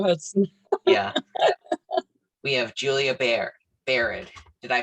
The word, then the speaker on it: Biard: We have Julia Biard. Did I pronounce that? Yeah. Yes, you did. Biard.